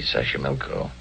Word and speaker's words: Xochimilco: Xochimilco. Okay. So you pronounce it better than I do. It's easy, Xochimilco.